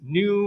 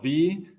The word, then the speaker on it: nu: for probability we want the probability that this new minus mu variable is at least Epsilon and